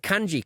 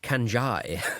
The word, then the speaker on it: kanji: And one of them was just hilarious because they used the word kanji quite a lot for obvious reasons in Japan. But they pronounced it kanjai. No. It was really discombobulating.